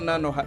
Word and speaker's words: Nanoha: Also, there's no na at the end, but I'm gonna keep letting you call her Nanohana.